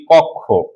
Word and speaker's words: কক্ষ: যেমন আমরা যদি লিখি কক্ষ। তাহলে উচ্চারণটা কি হবে? শব্দের শেষে আছে তাহলে এর উচ্চারণ হবে ক এবং খ এর মত।